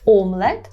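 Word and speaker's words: omlet: теж омлет омлет так пам'ятаємо про добрий наголос омлет - це буде омлет коли не продукт то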